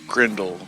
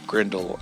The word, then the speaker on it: Grindle: you say grle no no grindle grindle um g r i n d l e not g r e n d e l but as the villain